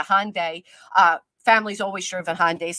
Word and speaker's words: Hyundai: that was embarrassing well it's a Hyundai I said it wrong it's not a hondes a Hyundai uh familyes always driven